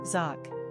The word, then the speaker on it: Jacques: number of syllables one ranking popularity not applicable pronunciation zoc simple meaning at the heel the supplanter characteristics